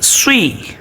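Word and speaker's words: صِ: জের সিন জের শি সদ জের সুই সুই দেখেন এটার উচ্চারণ হবে আমরা যদি এটাকে সদ জের সি পড়ি তাহলে সিন জের সি আর সদ জের সি এর মধ্যে কোন পার্থক্য থাকে না অতএব যখন সদ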